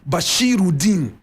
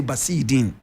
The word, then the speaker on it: Bashiruddin: The proper pronunciation, Bashiruddin. But we just used to say Basidin.